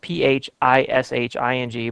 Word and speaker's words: phishing: form which is called phishing it's spelled pH is H ing but they say phishing and this is where